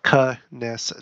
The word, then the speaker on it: Knesset: How do you pronounce Knesset? Knesset.